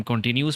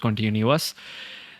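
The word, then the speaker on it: continuous: Second type हमारे पास जो division है वो है कॉन्टीन्यूस टेंस, ठीक है, जिसको हम कॉन्टीन्यूस पढ़ते हैं, बट the actual pronunciation is कॉन्टीन्यूअस।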